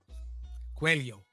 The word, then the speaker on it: Coelho: Coelho. That's how you say his name. Paulo Coelho.